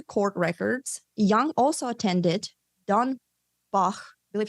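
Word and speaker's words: Dornbach: And then according to court records, Young also attended Don Bach, I believe he was a German guy, so that's how you pronounce it, Don Bach Nutrition University,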